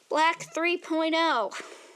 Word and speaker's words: BLK 3.0: acrylics and I'm like black 3.0 I mean I say black 3.0 but it's actually spelled like BLK 3.0 so I'm like I'm